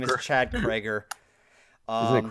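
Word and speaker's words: Kroeger: His name is Chad Krager. Is it Croker? His last name is weird to pronounce.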